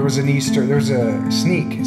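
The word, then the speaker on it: Sneek: Sneak. Sneak. How do you say it with an accent? Sneak. Snake.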